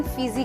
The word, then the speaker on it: फिजी: भी दर्शाया गया है वे अपने घर को वीटी कहते थे लेकिन तुनगांव ने इसे फीसी कहा और कैप्टन कुक ने जो एक विदेशी थे इनका उच्चारण फिजी किया और इन द्वीपों का